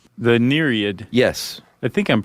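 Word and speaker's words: nereid: mermaid-like creature called the neriad yes I think I'm pronouncing that correctly yeah n-e-r-e-i-d that e i is a tough transition it is because you want to say like yeah or nurian these are sea nymphs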